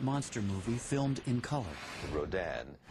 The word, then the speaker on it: Rodan: movie filmed in color Rodan which in Japan was called radon you know it's the Japanese pronunciation of Ron radon and when